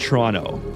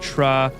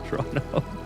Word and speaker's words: Toronto: It's actually pronounced Toronto. All right. So, if you're if you're a local, you don't pronounce the last T.